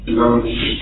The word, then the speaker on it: L'Homme Machine: How would you pronounce that in French? L'Homme Machine.